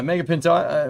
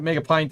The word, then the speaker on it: Mega Pint: Mega Pinto. Mega Pint. I I Pinto. Sorry, I read your name wrong. Mega Pinto. No, Mega Pint.